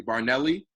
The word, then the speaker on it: Barinelli: I have, let me say it correctly, Barinelli, and Chris Nguyen.